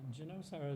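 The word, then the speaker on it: Ginosar: to junosar uh uh genosa is the Hebrew pronunciation of the name of the ancient town of janessaret now I'm sure you've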